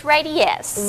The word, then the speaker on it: Radiesse: It's Radiesse.